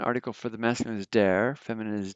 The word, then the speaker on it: der: of the definite article from dare to dane that's how you pronounce that d and dane but